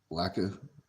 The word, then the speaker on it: lakh: You know, Kay says to Drew, yeah, bub, one lacka, that's how you say it, per month in India on average.